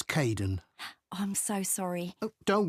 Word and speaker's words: Cayden: Hi Aiden. Uh it's Cayden.